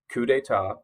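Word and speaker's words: coup d'état: that reference or you make that reference, you pronounce it correctly. Coup d'etat.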